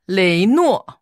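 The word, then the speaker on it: 雷诺: Oui, parce que R en chinois, on traduit toujours par L. Oui, souvent. Donc du coup, ça fait les nuo. Donc deux syllabes pour re et no.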